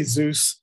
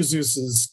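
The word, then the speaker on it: Seuss: inviting is dr zeus now i say zeus i've heard those other pronunciations whatever uh i was i grew up calling him dr zeus so that's what i'm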